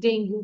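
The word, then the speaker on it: dengue: Miss ডেঙ্গু। হ্যাঁ ডেঙ্গু, আমরা বাংলাতে আসলে ডেঙ্গু বলি, বাট এটার প্রোনাউন্সিয়েশন ইংলিশে হচ্ছে ডেঙ্গি। ইটস নট ডেঙ্গু।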